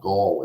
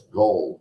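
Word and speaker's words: Gull: to make a correction everybody keeps saying judge Gall it's not Gall it's gold g-u-l-l aw Francis gold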